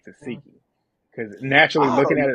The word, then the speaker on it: Tesehki: name I don't know I've been saying teki I think it's tsiki I got to train my mind to say toiki because naturally looking at